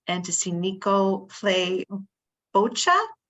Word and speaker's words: bocce: Eager to see the opening ceremonies and to see Nico play bocce. Am I pronouncing it right? Boca? Bocce. Oh, geez, bocce.